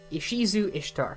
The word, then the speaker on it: Ishizu Ishtar: This is Ishizu Ishtar. Yes, that is how her name is pronounced.